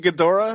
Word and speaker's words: Ghidorah: King Ghidorah, is that how you pronounce that?